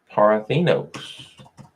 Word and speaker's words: Parthenos: They pronounce it Parthenos. I gotta learn that. You know what I mean? Okay, so Parthenos, which we have seen is in every scripture.